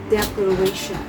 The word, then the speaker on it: declaration: the noun is pronounced declaration. Note in English verbs and nouns often experience a change in stress when the suffix anient is added. The stress in the nouns usually shifts to the third syllable.